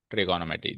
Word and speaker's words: ट्रिगोनोमेट्री: अच्छा, first of ऑल देखो, इस वर्ड को हम ट्रिग्नोमेट्री बोलते हैं, but actually it इज ट्रिगोनोमेट्री। क्या है इसका प्रोनाउंसिएशन? ट्रिगोनोमेट्री। ये वाला ओ हम अक्सर भूल जाते हैं और इसको पढ़ते हैं अपन trigno. But इट इज not trigno, it इज ट्रिगोनो।